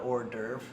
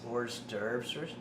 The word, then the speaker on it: hors d'oeuvre: The French call it hors d'oeuvre. The English pronounce the S, hors d'oeuvres.